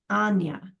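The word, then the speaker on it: Áine: Her niece is named A-I-N-E, pronounced Anya. And there's supposed to be an accent over the A, which you can't type.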